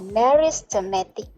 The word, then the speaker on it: meristematic: Alright, so make sure you can spell and also pronounce the meristematic tissue, not the meristem or not the systematic tissue. It is meristematic tissue.